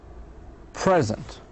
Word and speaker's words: present: The stress locates on the second syllable.